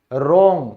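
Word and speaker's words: wrong: ये साइलेंट होता है, जैसे गलत, रोंग, तो देखो R से पहले आया है तो ये क्या हो गया, साइलेंट हो गया, रोंग।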